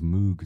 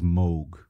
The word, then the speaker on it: Moog: he said very clearly it rhymes with vogue that's the usual german pronunciation i like the way that pronunciation sounds better than the cows moog sounds so the real